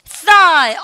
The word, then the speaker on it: thigh: thigh. 나는 진짜 이거 동급해 주시는데 생각보다 모르는 분 진짜 많으세요. thigh란 말. 근데 thigh입니다. 여러분들 gh 발음 나지 않아요. 묵음 표시하십시오. 여러분들 사운드 리스죠. 발음을 갖다 thigh. thigh 아셨죠?